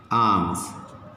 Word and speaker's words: arms: Okay, next, arms, A-R-M-S, R is silent. How to pronounce this? Arms. Okay, S is also pronounced as Z.